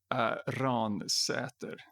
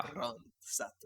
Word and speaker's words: Ransäter: Ransäter. That is my, Ransäter. yeah. Ransäter. So that's a Swedish pronunciation of it.